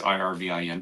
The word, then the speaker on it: Irvin: and um of course the senator spelled ER rvin mine's Irvin but it's pronounced the same okay but then the